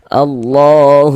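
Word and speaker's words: الله: Nah, Allah lafaz Allah dibaca panjang sama penjelasannya. Nih tanda panjangnya nih tanda panjangnya. Nah, nih ya tanda panjangnya harakat fathah berdiri ya. Mad thobbi'i panjang dua harakat. Alif lam selanjut huruf shad.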